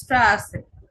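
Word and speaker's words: Straße: এস সেটের উচ্চারণ কিরকম হবে? ছয়ের মতো হবে, স্ট্রাসে, স্ট্রাসে।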